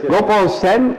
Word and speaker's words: Gopaal Seyn: Nick Nickham, and my special guest today is Gopaal Seyn. Is that correct? Did I say it correctly? Okay. Yes. Gopaal Seyn, and he is an artist, and he's going